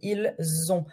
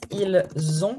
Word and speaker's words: ils ont: Every time you do la liaison with S, it will be like a Z. So, if you have this, ils ont. You want to do like a Z.